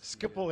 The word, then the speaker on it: Schiphol: Almost right. Schiphol Airport. Schiphol Airport. The difficult Dutch G.